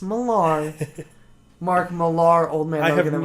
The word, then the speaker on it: Millar: It's pronounced Millar.